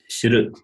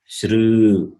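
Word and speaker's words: श्रु: So understand, this is shru. This in the same way, the long r also shru. So pronunciation is shru. But in writing, the forms are different.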